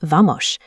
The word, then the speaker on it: Vamos: Standard Brazilian Portuguese apps teach a neutral S, but in Rio, the letter S at the end of syllables is pronounced like the S H in sheep. "Vamos" becomes "Vamosh".